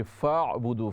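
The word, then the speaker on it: فَاعْبُدُوهُ: फा आइन ज़बर फअब्दूह। हाज़ा सिरातुम मुस्तक़ीम। हाज़ा सिरातुम मुस्तक़ीम। हाज़ा सिरातुम मुस्तक़ीम। ये फ़अब्दू, फ़ा आइन ज़बर फ़ा, दरम्यान में हमज़ा नहीं है। फ़ा को डायरेक्ट आइन से मिलाएंगे, अलिफ साइलेंट है।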